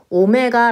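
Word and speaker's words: omega: 문제를 풀어보려고 해요 자 선생님 이거 w 라고 아니구요 오메 다라고 읽었어요 알파 베타 처럼 얘는 오메가 라고 읽어요 자 ex 암석 -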